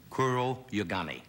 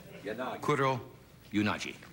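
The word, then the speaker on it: Kuroyanagi: She is with us tonight, and I hope I pronounce her name right. Her name is Tetsuko Kuroyagami. Yonaji. What? Yonaji. Yonaji. Yes. Kuro Yonaji.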